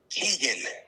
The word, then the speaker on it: Keegan: I'm almost positive Jason's last name is pronounced Keegan.